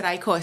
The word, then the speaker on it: Ikos: Is it Ikos or Ikos?